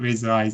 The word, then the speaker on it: Lazer Eye: Lazer Eyes as in razor, but you got a Z instead of an S.